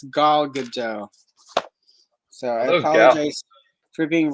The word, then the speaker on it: Gal Gadot: I've been calling her Gail, and apparently it's Gal Gadot.